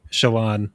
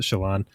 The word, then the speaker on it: Shallan: That's how I pronounce it. I've heard it pronounced Shallan, but I pronounce it Shallan. And that's how the audiobook pronounces it Shallan. So I feel like that's the correct.